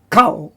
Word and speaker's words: kol: Because the grammar rule is where you got a kamatz, and it's an unaccented syllable, which is generally the first, and it's a closed syllable, then the kamatz becomes a short O sound.